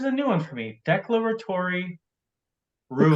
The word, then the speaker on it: declaratory: new one for me, declaratory ruling. Declaratory. Yep. Declaratory, thank you. Declaratory. I always emphasize the wrong syllable.